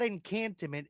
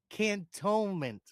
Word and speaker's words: Cantonment: Not encantment. It's Cantonment, Florida.